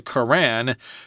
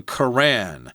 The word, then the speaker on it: Quran: There are probably different ways to pronounce it. I say Quran. Quran, okay, yeah. Sounds good. I think I've heard some people say Quran, but Quran is probably closer to correct.